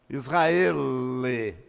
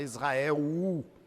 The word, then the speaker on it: Israel: Israele. Israele. Tem que pronunciar o L, viu? Não é U, não. Não é Israel U. Não, é Israele.